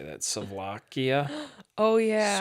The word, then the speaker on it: souvlaki: Souvlakia? Oh, yeah. Souvlaki? Lamb How do you spell it?